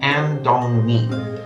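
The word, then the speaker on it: 安东尼: Now, when I first came, my wife, girlfriend at the time, picked the name Andong-ni, simply because it was phonetically similar to Anthony. Andong-ni, Anthony.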